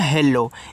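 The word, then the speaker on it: hello: आप अगर ये सोचो भैया यहां पे डबल एल है तो मैं आधा ल और पूरा ल पढ़ दूं हिंदी वाले की तरह। बिल्कुल नहीं। इंग्लिश में ऐसा नहीं होगा। अगर कोई वर्ड डबल बार रिपीट होंगे तो उनका जो उच्चारण करोगे एक बार।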